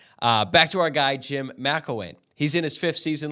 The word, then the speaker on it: McElwain: Central Michigan is coached by Jim McElwain, not McElwain, like I said in the season preview podcast.